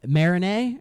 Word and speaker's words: Marigny: I think it's called Marigny. It's a it's French, but it's spelled with like g n y and I'm like it's not it's not Marigny. It's probably Marigny cuz, you know, French.